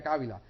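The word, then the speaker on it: Javila: Se escribe Jávila, pero se pronuncia Cávila.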